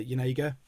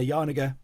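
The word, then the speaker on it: Janega: And Eleanor Yanega, sorry, no, I'll say her name properly. And Eleanor Yarniger, I'm just going to have a drink.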